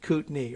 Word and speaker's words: Kootenai: it's very cute but get rid of that y sound coot like you old coot how's your knee kootni right okay i think